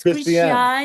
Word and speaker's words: Christiane: Yeah, everybody butchers my first name, but like I'm from Brazil, so it's Christiane. Christiane.